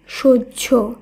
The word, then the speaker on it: সহ্য: একইভাবে গ এর ফলা হয় ফোলা এর শুদ্ধ উচ্চারণ হবে গ্রাহ্য দন্তস হয় ফোলা সহ্য ঐ তৈয়ি হয় ফোলা এই শব্দের শুদ্ধ উচ্চারণ